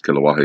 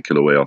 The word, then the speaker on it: Kilauea: erupting killer wait Kilauea I'm not being saying it wrong for the last couple of videos kilowatt hey it's actually Kilauea so my apologies for